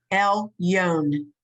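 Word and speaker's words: עליון: This is an ion, so it's silent, and all you hear is the vowel under it. Okay. Good. It's El Yon. El Yon. Okay. Right. Okay. It's L. This is a blend now. Yud O Nun. Yon.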